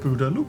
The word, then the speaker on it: Boodaloo: Maybe the snails are all Boodaloo, but you say it like A loop. a loop. Boodaloo.